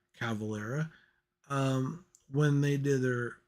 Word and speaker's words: Cavalera: me of Max and eigor Cavalier I finally said it right eigor cavalera um when they did